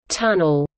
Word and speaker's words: TUNL: abbreviated as T UNL pronounced as tunnel is a tripartite research